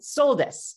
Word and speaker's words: soldes: Soldes, S-O-L-D-E-S, my favorite word in French. And I'm not pronouncing it right, but I love it because they progressively discount everything throughout the month.